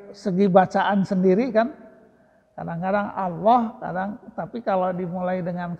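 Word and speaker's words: الله: bukan di loh ya jadi dari segi pelafalan kata Allah sendiri Itu kalau dimulai dengan fathah maka letak him tafkhim tafkhim to tebal Allah tapi kalau by Billah dari dari segi pelafalan Allah sendiri itu berbeda tergantung Hatta sebelumnya bisnis ada mie Nila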